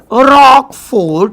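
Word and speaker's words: Roquefort: आहे त्याचं नाव आहे रॉक फोड चीज काय नाव आहे रॉक फोड चीज नाव लक्षात आलं नाव रॉक पण स्पेलिंग वेगळी लक्षात ठेवा आता याचा मायक्रोब बघू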